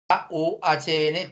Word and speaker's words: Kuhn: A Thomas Kuhn, así como se escribe, Thomas, K-U-H-N, Kuhn.